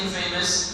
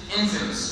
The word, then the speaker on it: infamous: It's spelled with an You added IN in the beginning, but you don't say infamous, you say infamous.